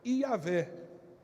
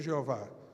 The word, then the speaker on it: Iavé: Mas não tem como ser Jeová, porque não tem o som de J na língua hebraica. Então não tem como ser Jeová.